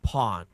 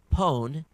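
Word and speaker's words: pwn: trouble you're having with Pawn this article may help the pawn to own competition is usually pronounced as if it were written pone to own where the first r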